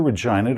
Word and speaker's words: Regina: And yes, it really is pronounced that way, just like the capital of Saskatchewan, so blame Canada. In fact, the gas giant Assiniboia that Regina circles, yeah, that's the